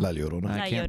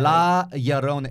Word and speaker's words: La Llorona: La Llorona. I can't. Chavez. He is directing. It's only a sound if there's two L's together, right? La Llorona.